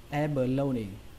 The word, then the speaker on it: abalone: Cách đọc thứ hai của từ này chúng ta sẽ đọc cái âm đầu tiên thành âm a bẹt, đọc là abalone, abalone. Nên là cái từ này sẽ có hai cách đọc, cách đầu tiên abalone, cách thứ hai abalone.